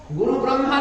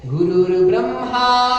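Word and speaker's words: গুরুর্ব্রহ্মা: শুনুন, গুরুর প্রণাম মন্ত্র গুরু ব্রহ্মা আমরা উচ্চারণগতভাবে ভুল করছি। গুরু ব্রহ্মা নয়, গুরু বিষ্ণু নয়, ওর উচ্চারণ হচ্ছে গুরুর ব্রহ্মা গুরুর বিষ্ণু গুরুর্দেব মহেশ্বর গুরুরেব পরম ব্রহ্মা তস্মৈ শ্রী গুরুবে নমঃ।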